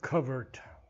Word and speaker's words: covert: This word covert, English pronunciation. American would be covert.